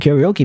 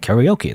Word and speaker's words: karaoke: But you know, karaoke, karaoke. You know, you're supposed to pronounce it in Japanese.